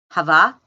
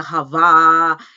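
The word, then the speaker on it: halva: that I ate today Hava Havas U make me spell h a l v a Greeks they pronounce it the L is kind of silent but it's h a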